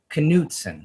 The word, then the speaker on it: Knutson: Knutson? Knutson. Knutson.